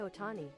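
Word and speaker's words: Ohtani: Shohei Otani.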